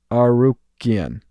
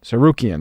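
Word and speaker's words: Tsarukyan: Tsarukian. Okay. Tsarukian, that's how you say it.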